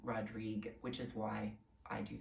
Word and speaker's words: Rodrigue: He pronounced his name Rodrigue, which is why I do that today.